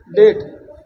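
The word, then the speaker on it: debt: देखो कॉम, बम, थम में संगठा, उसे टी से पहले आए बी साइलेंट रहता है, यानी टी से पहले कभी भी आए तो साइलेंट हो जाएगा। जैसे देखो डाउट, डेट, लेकिन देखो सेंस अलग मिलेगा।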